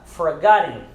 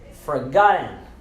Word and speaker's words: forgotten: Essa é a maneira certa de pronunciar, forgotten. Nós tiramos os dois T's, não pronunciamos, nós silenciamos os dois T's, e então o E e o N ele se torna IN, forgotten, forgotten.